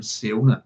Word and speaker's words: Siona: derived from the name SIona. Yes. So in Irish, SIona, you add another name, but the I would be Sh.